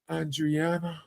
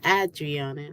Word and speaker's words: Adriana: say happy new life andreana is that and did I pronounce that right um I would say Adriana yeah you did you